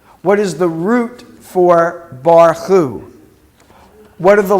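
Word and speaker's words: בָּרְכוּ: Okay, so you're going to pronounce this word. Bar-chu, right? Because we got the kaf without the dot.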